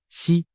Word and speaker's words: 石: 胡锦涛，实在某些方言里读作西，实难逃